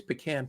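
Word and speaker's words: pecan: my number three is pean pie pean pan pean depends where you're from how you say it uh my number my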